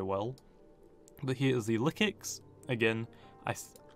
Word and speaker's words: Lyxic: monster very very well but here is the liix again I i' I've only recently told that it's been actually is liix because I actually had to ask the Discord